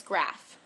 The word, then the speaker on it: Graf: pronounce my last name its grasp like a bar graph did they tell you